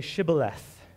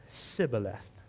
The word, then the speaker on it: Shibboleth: And when he said, "No," they said to him, "Then say Shibboleth." And he said, "Sibboleth," for he could not pronounce it right.